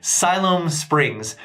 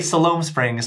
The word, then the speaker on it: Siloam Springs: sure on the record it is Siloam Springs so just to keep that in mind when you're looking to buy an asylum uh don't say Salome Springs like I happen to do so watch out for